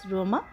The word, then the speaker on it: Roma: ক্লাবের নাম হচ্ছে SVS রোমা, যেটা ইটালিয়ান উচ্চারণ হচ্ছে SVS রোমা।